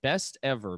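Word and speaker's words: BSTEVR: that we've ever introduced it's called best ever but it's spelled b s t e v r dot com that's b s t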